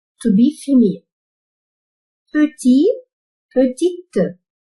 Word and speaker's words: petit: Petit, petite. Ici, le T, c'est muet, silent. We are not going to pronounce it. But after adding the E, we have to pronounce it. Petit, petite.